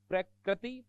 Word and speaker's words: प्रकृति: अब इनमें उच्चारण गलत कर देते हैं अपन, इसलिए ये त्रुटियां होती है।